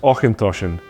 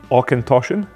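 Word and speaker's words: Auchentoshan: tongue twister it's pronounced aint toin there are many videos out there that suggest aen tosen but as we said earlier just remember the CH in Scotch dialect is often pronounced so otion oen tosan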